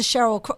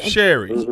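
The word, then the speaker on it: Sherri: got it in the bag and that's the Cheryl I hope say her name right but that's the one that took the place of Wendy Williams right and Sherry Sherry thank you she's a comedian she's a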